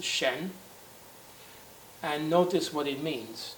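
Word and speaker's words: 申: On the right, we have this character here, which is pronounced Shen.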